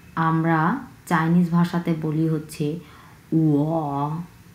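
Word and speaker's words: 我: সো আমি কথাটাকে আমরা চাইনিজ ভাষাতে বলি হচ্ছে উয়া উয়া উয়া, 3 নাম্বার টোন।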